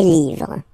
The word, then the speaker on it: livres: you just write livre, and then you put S at the end, but then you don't pronounce it, les livres.